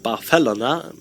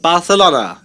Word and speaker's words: Barcelona: that after visiting Barcelona which by the way is pronounced Barcelona by its Dennis bar not Barcelona as you might think after this short